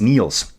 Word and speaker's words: Niel: Uh you say it like Neil Armstrong. So it's Neil's Neils.